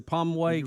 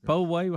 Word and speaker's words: Poway: And look, we got a mansion open over here in Pomway, California. Poway.